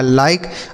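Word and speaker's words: like: लिखा लाइक।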